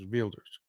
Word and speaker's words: Wilders: Trump's is gear veers spelled Wilders but they they don't pronounce it wild there's velders Gert velders he looks like